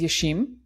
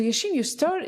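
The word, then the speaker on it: Yeşim: I think it's just the way it's written is a little bit misleading because Different. it's written with an S. Yeah. Yeah. So Yashin, you mentioned like that you moved from Turkey to Dublin Yes.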